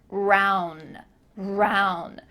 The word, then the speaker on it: around: off the first letter we're cutting off the last letter and we're just saying the middle part round round this means around town